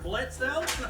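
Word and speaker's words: Blitzø: I think Blitzo's becoming my favorite. Yeah, no, the O is silent.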